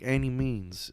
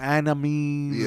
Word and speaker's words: Annimeanz: So TikTok, Facebook, Annimeanz. It's pronounced Annimeanz, like by any means necessary. Because so many people, Annimeanz, or like, don't pronounce it, motherfucker.